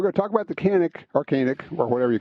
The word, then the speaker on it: Canik: So she actually settled on between the two, a SIG Legion and a single action only, and a Canik, sometimes pronounced Yonic.